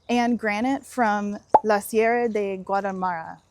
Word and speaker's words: Sierra de Guadarrama: name, and granite from La Sierra de Guadalmara, which if I could roll my R's, I'd be pronouncing that correctly.